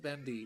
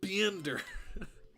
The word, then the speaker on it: Bendy: and his stupid voice the way he pronounced bendy just kills me b it's like it's like beander because bendy wasn't meta